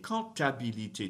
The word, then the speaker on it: comptabilité: La comptabilité, comptabilité, don't pronounce the P, comptabilité, has an accent on the end, so you have to do something with the E at the end, comptabilité, comptabilité.